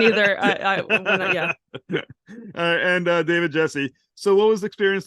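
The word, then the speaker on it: Gyasi: have actors like Rufus Su krie Russell David yasi Jesse that's how you pronounce it yeah I was not even close okay that's okay I wasn't either I yeah and David Jesse so what was experience like on set with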